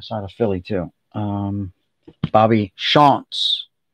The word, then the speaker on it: Shantz: It's Shantz, not Shantz. It's Shantz.